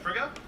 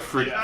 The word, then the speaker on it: Frigga: Frigga?